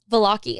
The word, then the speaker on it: Valocchi: Callie, is it Valocchi? Valocchi.